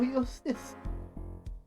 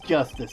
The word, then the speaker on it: Justice: Apollo Eustace. Apollo Eustace! Oh, Apollo Eustace! That's justice. Better learn how to say it if you ever want to get some.